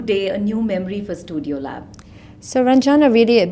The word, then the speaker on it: StuDIYo: think of this name so studio lab and it's spelled very differently right it's 2 di y o lab so yes exactly how